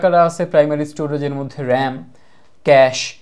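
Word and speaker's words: cache: যেমন কারা কারা আছে প্রাইমারি স্টোরেজের মধ্যে, র্যাম, ক্যাশ। এটা কিন্তু ভাই এটা স্পেলিংটা হচ্ছে, এটার প্রোনাউন্সিয়েশনটা হচ্ছে এরকম, ক্যাশ। এটা কিন্তু টাকার ক্যাশ না, ঠিক আছে?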